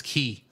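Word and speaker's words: chi: Because C-H-I is how you say the, is how you pronounce the Latin letter that X is based on.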